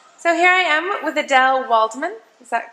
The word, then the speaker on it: Adelle Waldman: So here I am with Adelle Waldman. Is that correctly pronounced?